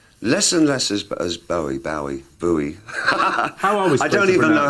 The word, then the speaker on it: Bowie: i've lost track uh i always thought it was bowie i thought what is this scottish name must be bowie but nobody in scotland pronounces it i pronounce it bowie it was some kind